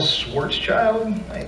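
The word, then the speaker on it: Schwarzschild: some dude some super ridiculous smart guy Carl Swartz child that's how you pronounce his name was the first one to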